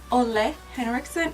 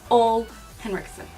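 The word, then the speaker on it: Ole Henriksen: this wrong for the longest time it's actually pronounced only Henrickson and I've been calling it old Henrickson anyways so I'm gonna go in with this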